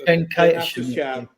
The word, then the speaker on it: Venkatesham: I can never pronounce it. It's Venkatesham.